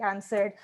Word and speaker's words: answer: are going to be answered because asking questions feels like a cruel joke for goodness sakes the word answer doesn't even pronounce the letter w it's silently mocking your